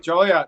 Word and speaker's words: Joliet: Zoom is Alex Bennett coming to us from Joliet Illinois did I say that right Julia you said it right Joliet that's correct Alex thank you for joining us here on the news at 8 30.